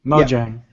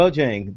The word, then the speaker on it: Mojang: Mojang. Yeah. Mojang.